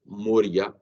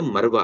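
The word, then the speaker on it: مروة: जैसे कि लफ्ज है जो है ना मरवा, सफा मरवा, मरवा को मोरिया या मूरा जो है ना पढ़ लिया जाए।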